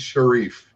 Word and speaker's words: Sharif: Is that how you pronounce it? It's Sharif.